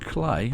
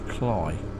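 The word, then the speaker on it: Cley: car or a van I don't think it's pronounced clay I'm sure it's cly anyway I don't even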